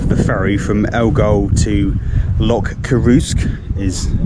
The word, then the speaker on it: Loch Coruisk: Just got off the ferry from Elgol to Loch Coruisk, is how you pronounce it apparently, and as you can tell